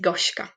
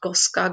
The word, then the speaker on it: Goshka: So I would say, my name is Goshka. Goshka. You hear this she? Now repeat Goshka. And in this way, people also, other participants get confident with pronouncing the names because they know my name is Goshka and not Goska, Goshka, and others.